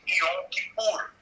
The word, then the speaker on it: Yom Kippur: Até mais tarde você vai ter lá o famoso dia da expiação, que em hebraico pronuncia-se Yom Kippur, da mesma raiz capar, espiar ali, não é?